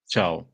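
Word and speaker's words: Thiaw: Say his name proper for us. Chow. Chow, yeah. I mean, I see Chow, and I'm thinking like a Chinese guy, CHOW. Yeah, I only know it because it was, because he said it a couple of times, like himself in interviews. Otherwise, I wouldn't have known the pronunciation as well. But yeah, it's Malik Chow. A different one. Exactly like the Chinese guy. Yeah, like chow mein noodles.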